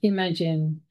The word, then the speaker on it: MAGen: Welcome to the ML-AI Tools to Advance Genomic Translational Research, pronounced MAGen, Notice of Funding Opportunity webinar.